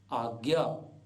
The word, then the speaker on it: आज्ञा: जैसे आज्ञा, सामान्यतया लोग बोलते हैं आज्ञा, यज्ञ, ज्ञान, जबकि ठीक ठीक उच्चारण होगा आज्ञा, यज्ञ, ज्ञान, विज्ञान।